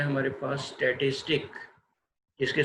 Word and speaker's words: statistique: German word है हमारे पास स्टैटिस्टिक, जिसके स्पेलिंग है STATISTIK, उसके मीनिंग भी सिमिलर पॉलिटिकल स्टेट के। और फ्रेंच में लफ्ज़ यूज़ हुआ, उसकी स्पेलिंग है STATISTIQUE, स्टैटिस्टिक ही हम इसको पढ़ेंगे और इसके मीनिंग्स भी पॉलिटिकल स्टेट के हैं।